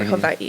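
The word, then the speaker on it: Hawaiʻi: And then there's the island of Hawaii, or Hawaii is actually how you pronounce it.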